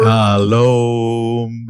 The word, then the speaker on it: shalom: You know, I think it's called the Shalom Tour. Yeah. It was basically like, maybe I got the tour name wrong. but I have to look it up. Regardless, we went on tour. Shalom. Emphasis on Om.